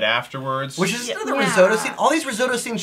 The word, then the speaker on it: Risotto: Is it risotto? How do you say? Is it risotto? Risotto. Risotto. Cool. Like risotto.